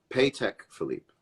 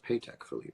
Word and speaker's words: Patek Philippe: Awards as a mirror world's most baller mirror pay tech Philippe is that true it's pronounced paycheck Philippe well I've been saying it right all along